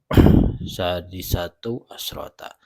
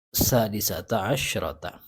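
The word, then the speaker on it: سادسة عشرة: Al-qa'idatu sadisatu asyrata. Salah ya. Harusnya al-qa'idatu hadiyata asyrata, al-qa'idatu tsaniyata asyrata, al-qa'idatu tsalitsata asyrata, al-qa'idatu rabi'ata asyrata, al-qa'idatu khamisata asyrata, al-qa'idatu sadisata asyrata. Jadi mabni fathah semua.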